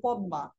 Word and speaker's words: পদ্মা: কিন্তু উচ্চারণে আসে না যেমন আপনারা নদীর নাম পদ্মা পদ্মার মধ্যে কিন্তু লেখা এসেছে কি লেখা রয়েছে মূলত পদ্মা মানে মদমা কিন্তু এটা কিন্তু উচ্চারণে আসেনি উচ্চারণে আসে কি পদ্মা ম ফলার কারণে এটা তাসদিদের মত উচ্চারণ হচ্ছে এমনিভাবে আরো অনেক অনেক